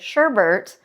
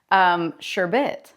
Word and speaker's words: sherbet: Anytime I hear somebody say Sherbert, I say, hey, did you know that that's actually Sherbet?